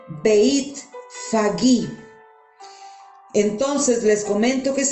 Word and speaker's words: Betfagé: Está en lenguaje arameo y se pronuncia Beit Fagí.